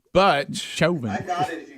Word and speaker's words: Chauvin: our show yeah because shelving to me sounds like a japanese steakhouse but but but it looks like chocolate yeah that's um cha yeah so now you guys have me saying but shoving i got it if